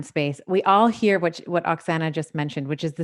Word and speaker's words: Oksana: So we have Oksana here, if I'm pronouncing the name properly.